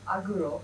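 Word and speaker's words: Agro: The name is Aguro. It's A-G-R-O. It's spelled A-G-R-O.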